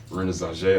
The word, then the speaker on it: Renaissauja: my bio on my Instagram page which is Rena Z I spell it for you r e n a i